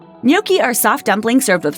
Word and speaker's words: gnocchi: Before potatoes came to Europe, gnocchi were most likely made with flour or even breadcrumbs. Don't pronounce the G.